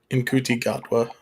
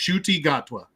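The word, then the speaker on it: Ncuti Gatwa: split his dress shirt is now on um inti gatwa thank you shuy is actually I believe the way it's pronounced we actually looked it up it's it's pronounced shuy gatwa thank okay yeah so shuchi is actually wearing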